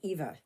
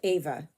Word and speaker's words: Eva: So I changed it to Ava. Same spelling, just a different pronunciation. Okay, it's like basically like Evan, every, either, that kind of thing.